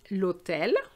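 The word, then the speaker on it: l'hôtel: are going to say lotel lopital and here you're going to see that the h is really silent we're just pronouncing the t and the a sound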